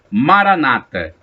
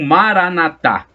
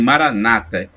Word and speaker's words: maranata: por são paulo apóstolo maranata ou maranata é um assento no último a são os católicos que pronunciam assim os protetores protestantes dizem maranata com acentuação tônica na penúltima sílaba mas o significado é